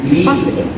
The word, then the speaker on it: positive: And the second example is positive. There is 3 syllables, and the stress syllables in po.